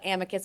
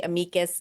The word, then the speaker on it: amicus: And by the way, there's multiple ways to pronounce it. I was always taught amicus, but some people say amicus, and Justice Breyer says amicus. So there's no rules.